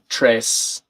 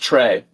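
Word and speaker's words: très: And Fiona and Cella are guessing uh trace. I think you pronounce the se extreal.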